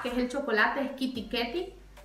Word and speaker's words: KitKat: Y tiene también, por ejemplo, el KitKat, que es el chocolate, es Kitty Ketty.